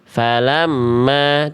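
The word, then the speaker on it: فلما: Jadi M-nya ditahan du ditahan dulu M-nya dua harakat. Ya, falamma. Jangan sampai falamma, tapi falamma. Oke.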